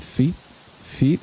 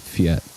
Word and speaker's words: fiets: Is it feet or is it fiat? Am I pronouncing it wrong? Fietzeria? Pizzeria? Feets. Okay, that's what I thought.